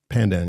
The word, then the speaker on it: pandan: Pandan. Pandan.